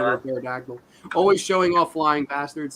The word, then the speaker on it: pterodactyl: Pterodactyl. Oh, I didn't realize there was a P in pterodactyl.